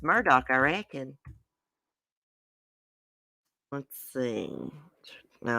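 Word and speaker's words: Murdaugh: i think your name is sound better pronounced murdah like it sounds it's pronounced murdock i reckon let's see no i didn't read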